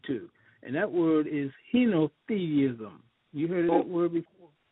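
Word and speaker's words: henotheism: people uh adhering to and that word is heno theism you heard that word before repeat that again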